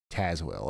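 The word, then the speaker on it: Tazewell: And Tazwell. Okay. I could have sworn last time I was saying Tazwell and you guys told me to say Tazwell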